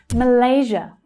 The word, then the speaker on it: Malaysia: The second syllable there is the stressed one, Malaysia. The other two are unstressed syllables, so they reduce. And just like Indonesia, you'll hear the zh consonant sound, zh, as in vision.